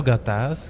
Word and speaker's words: gatas: Em Tagalog, gatas ou gatas? Gatas. A sílaba forte qual é? Gatas.